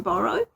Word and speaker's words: boro: Today, we're going to be working on a process called borrow. It's spelled B O R O.